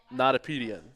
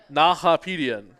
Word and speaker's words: Nahapedian: it's still out for debate, but I'm pretty sure with like 80% certainty it's Arthur Notapedian. Notapedian. Oh, and here's Arthur's dad. He's gonna come correct us. Nahapedian.